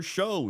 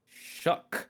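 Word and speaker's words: Shough: Speaking of quarterbacks, Saints named rookie Tyler Show. Shuff. I still don't know how to say his name. Let's start. So, this is going to piss you off. It's shuck. It's shuck.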